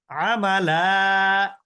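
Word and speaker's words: عملا: আমালা, থেমে গেলে হবে কি মাদ্দে ইওয়াজ।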